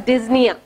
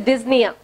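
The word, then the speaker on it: dyspnoea: And difficulty in breathing, that is called as dyspnea. D-Y-S-P-N-O-E-A. P is silent there. It is dyspnea.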